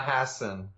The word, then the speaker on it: Hassan: what's the proper pronunciation uh Hassen Hassen Hassen H Hass Hassen okay yeah it's a it's an Americanization of my great-grandfather who came from ltia